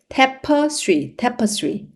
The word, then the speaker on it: tapestry: 그러니까 한마디로 이 tapestry 하면은 발음 조심하세요. 테이프가 아니라 우리가 많이 하는 그러니까 여기서 발음이 tapestry 이렇게 발음이 돼요.